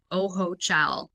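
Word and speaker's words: Ojochal: So it's interesting because when I moved here actually the village that I live in is called Oho Cha. It's spelled O J O C H A L.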